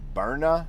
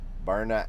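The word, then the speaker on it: Byrna: but there is one called a Burna I believe is how you pronounce it b y r n a Burna h h d and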